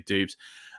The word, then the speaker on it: Dobbs: want to pronounce him I say Dobbs some people say dubes um we'll get this